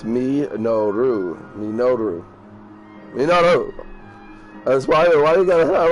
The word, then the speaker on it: Minoru: It'll sound like a robot, but probably still, you can hear how it's pronounced. But it's Minoru.